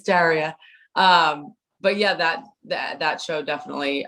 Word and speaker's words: Daria: Everyone that meets me immediately says Daria. And I'm like, oh, it's Daria.